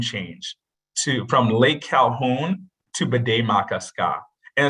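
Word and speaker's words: Bde Maka Ska: You had perfect pronunciation. Do it out of your own. All right. Bde-Maka-Ska.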